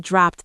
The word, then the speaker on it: dropped: I must have dropped them. And here we have another ed ending. Dropped, dropped. That's a T ending.